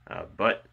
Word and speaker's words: Butte: And then their mailing address is 48332 Highway 12, Butte, Nebraska. And that's spelled B-U-T-T-E, Butte, Nebraska, 68722.